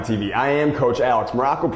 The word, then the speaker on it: Maroko: I am Coach Alex Maroko, pronounced just like the country, spelled absolutely, positively, totally, completely, and endlessly.